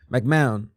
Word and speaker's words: McMahon: McMahon, silent. Okay, like McMahon.